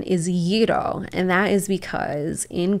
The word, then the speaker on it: gyro: you said gyro so I'm saying gyro but gyro isn't technically the the right pronunciation correct that is correct so the correct pronunciation is yido and that is because in Greek the word